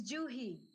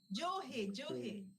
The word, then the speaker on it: Juhi: I was pronouncing and practicing how to pronounce the name. It's Juhi. Juhi.